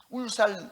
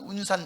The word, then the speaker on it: 울산: 그러면 서운 서운 그래요 울산 울산 하면 운산 운산 그래요 리열 발음을 못해요 그리고 윤진 하면 윤